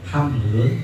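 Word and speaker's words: حَمْل: Fahamalal baqalu at-tabaqo, maka hamalat, jadi kalau kata-kata hamlun bi fathil ha, maka nabil batni. Kalau himlun bi kasril ha'i, maka na ala dhahri. Kata hamlun itu dipathahkan huruf haknya, hamlun dipathahkan huruf haknya, maka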